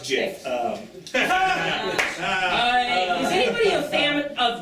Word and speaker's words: GIF: I believe it's pronounced Jif.